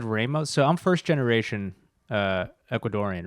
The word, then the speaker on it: Ramos: Yeah, it's Ramos. Yeah, we were robbing them of a long A for you stole his Dude, accent.